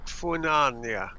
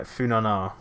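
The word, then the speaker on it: Funaná: Funani is how you pronounce it. Which I Funani, right? Yeah, which honestly I thought that they were saying Punani, and I'm like, yeah, I can imagine. No, Funana, that's what it's called.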